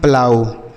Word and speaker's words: plough: आगे लिखा PLOUGH, इसे पढ़ते हैं प्लाऊ।